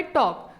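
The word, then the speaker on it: talk: silent letter है अगला word है टॉक तो टॉक बोलने पे किस लेटर की साउंड नहीं आ रही है एल की नहीं आ रही है तो इसका मतलब है कि एल यहां पे क्या है साइलेंट लेटर है अगला क्वेश्चन है राइट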